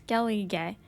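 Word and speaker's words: Skellige: from sintra to Skelly how did she pronounce it it's Kelly gay which took the lives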